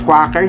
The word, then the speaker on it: Quaker: yung quaker oats Ayan quaker or quacker hindi ko alam pero ang alam ko talaga is quaker ang tamang pagbigkas diyan pero meron kasi akong mga tao na Naririnig na parang quaker ung tawag nila pero yun